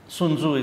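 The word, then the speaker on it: Sun Tzu: the Art of War sunu I I heard about it sunzu is the way you pronounce it it's a wisdom that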